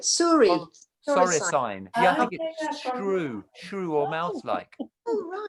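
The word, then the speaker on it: soricine: came across a word i think you pronounce it sorry sign s o r i c i n e as in you know like equine bovine feline signs i said oh right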